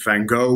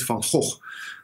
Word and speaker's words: van Gogh: I know many people are used to saying Vincent van Gogh or van Gogh, but the Dutch pronunciation is Vincent van Gogh.